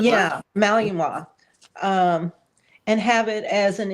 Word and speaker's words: Malinois: Like you can't have a Malinois. I can't pronounce that name. But Malinois? Malinois? yeah, Malinois.